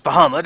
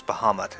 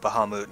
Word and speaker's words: Bahamut: just so you know I really hate how they pronounce bahamut in this it's keep going at bahama mouton I'm like no anyway so first things